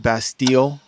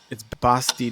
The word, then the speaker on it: Bastille: Okay, Americans might pronounce it Bastille, but it's Bastille Day is what the French say.